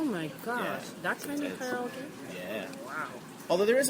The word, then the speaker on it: karaoke: People say karaoke. It's actually, what is it? Art? Try. Karaoke. Karaoke. Karaoke. Karaoke. Karaoke. Karaoke. Yes, karaoke. Karaoke.